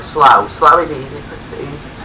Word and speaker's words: Slough: Slough. It's like, it's a weird way of pronouncing slow, like Slough.